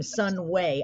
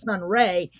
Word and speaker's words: Sunway: a cool stage name Sun way and I think I mispronounced it at first I thought it was Sun Ray I was like no it's Sunway that's so cool that is